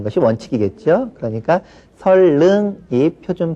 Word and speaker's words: 선릉: 역 이름에 선릉역이라는 역이 있죠? 네. 예. 그 발음할 때 어떻게 합니까? 그 안내방송에서 설릉 그렇게 나옵니까? 예. 그게 맞는 말이죠. 그런데 일반적으로 우리가 선릉 이렇게 또 많이 발음을 합니다.